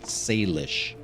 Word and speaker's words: Salish: by the native tribes, which would be the Salish people if this were really where they say it takes place. Sorry, I mispronounced that. Salish.